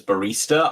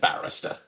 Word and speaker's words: barrister: Legate Laurie said, so Fee's immediate mispronunciation of it as barista, I took at face value before actually looking at the chat and seeing that it said barrister.